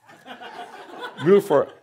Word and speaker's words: Middelfart: Middelfart. That's how they say it in Denmark. Middelfart, like that.